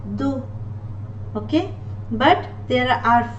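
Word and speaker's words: doux: And the last word, do, do, X is not pronounced, do.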